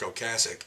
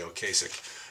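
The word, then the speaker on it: Ocasek: with todd rundgren and this one has rick o'cassick and that is the correct pronunciation by the way a lot of people say oh kasich and they're wrong we have paul and apart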